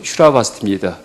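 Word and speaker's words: Śrāvastī: 그 기원이 사위국이란 얘기하죠이 사위국이 이제 한자 음인데 원래 인도 발음은 슈라바스티 그 이제 그 한문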